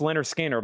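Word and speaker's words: Lynyrd Skynyrd: This is Leonard Skard live and this is pronounced Leonard Skard live from Jacksonville, Florida Theater near Mint red, white marbled vinyl.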